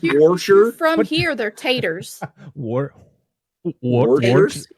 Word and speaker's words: Worcester: It's Worcester, but if you look at the word, it's Worcester. That's great. Yeah, and I'm like, Worcestershire that sauce? Is like where are the rest of the letters in this word? Just don't pronounce them.